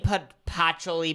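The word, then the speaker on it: patchouli: 34 pacholi and smoke I didn't know what pachuli was and I'm saying put actually because that's what Google said that's how you say it and it's a flower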